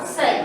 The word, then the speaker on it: psi: இத நம்ம எப்படி ப்ரொனவுன்ஸ் பண்ணுவோம், psi.